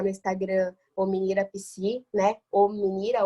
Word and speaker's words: Ominira: Ominira, O-M-I-N-I-R-A, como se fala, se escreve.